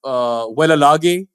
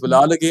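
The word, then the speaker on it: Wellalage: A lot of people, including myself, were calling him Velalage. Then turned out he was Vilalage.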